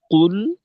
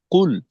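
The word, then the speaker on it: قُلْ: এরকম কুলহুয়ল্লাহু আহাদ আহাদ আর এই দেখেন কুল কুল এই শব্দ উচ্চারণে কিন্তু আমাদের ঠোটের দুইটা অবস্থা থাকবে প্রথমে কফের পেশের জন্য গোল লামের জজমের জন্য খোলা।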